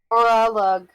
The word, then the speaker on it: Orlog: So he then points to Orlog? Is that how you say it? Orlug. Orlog. Lug? Orlug. Whatever you said.